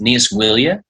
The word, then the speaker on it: Níos Moille: But it's an Irish phrase pronounced Níos Moille. Okay. And you slow it down to get it phonetically, but you want to say it as fast as possible.